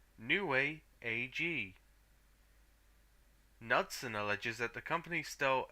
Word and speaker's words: Knudsen: Knudsen.